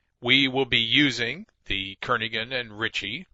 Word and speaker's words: Kernighan: will be using the Kernighan and Ritchie or Kerr Nahan I should say that G is silent Karen ahead and Ritchie C programming